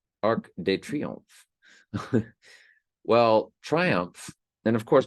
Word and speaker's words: Arc de Triomphe: Of this monument, in French, in France, we would call it Arc de Triomphe. Arc de Triomphe.